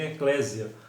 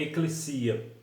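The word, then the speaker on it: ekklesia: escrito corretamente éclesia né As pessoas dizem Eclésia mas na verdade o nome é a pronúncia é eclecia o que na verdade faz muita diferença né Às vezes até as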